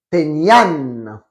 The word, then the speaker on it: tenía: Et attention à la prononciation, c'est bien Yo tenía, tenías, tenía, teníamos, teníais, tenían.